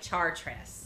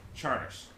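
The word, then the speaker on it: Chartres: but it's felt like chart rest yes CH AR T are pronounced like charter cruise charters sorry norms we do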